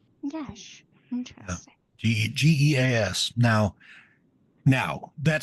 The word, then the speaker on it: geas: it's from I know I only learned like last year that it's from apparently Irish mythology, folklore, and they pronounce it Gesh. Gash. Interesting. Geas.